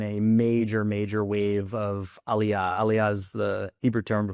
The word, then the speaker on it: aliyah: say there's been a major major wave of aliyah.